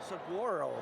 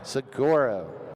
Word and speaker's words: Saguaro: Sigoro. Sigoro.